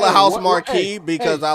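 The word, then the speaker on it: Housemarque: guys are in chat this is how apparently you pronounce house Mark right everyone Ready House Mark okay cool that's how you do it I'm gonna call a house Marquee because I like it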